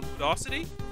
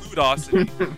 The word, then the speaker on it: Ludocity: the first place uh i believe it's pronounced uh ludocity uh kind of like hydrocity i almost said rubio city it's it's ludocity um they are the